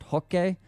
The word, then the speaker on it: Roque: Also, for everyone annoyed at me, I know it's pronounced Roque. It's just so distracting because no one in the English-speaking world pronounces it that way that I think it actually distracts people from the video, so I don't say it like that.